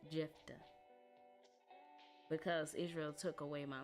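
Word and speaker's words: Jephthah: It's the F. Jeffa.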